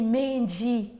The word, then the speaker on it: Menji: Le nom Menji vient déjà à la prononciation que je fais maintenant, c'est vraiment pas bien. Donc, un bad example. C'est dit Menji, hein, ça vient de l'intelligence, les pensées en Chiluba.